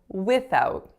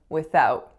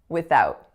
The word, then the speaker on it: without: the third syllable a finally in this section I said without without when in fact the stress is supposed to be on out so we should be saying without without so if I had